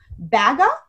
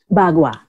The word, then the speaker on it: Bagua: I've heard of, I might be pronouncing this wrong, correct me if I'm wrong, I've heard of Baga? Bagua.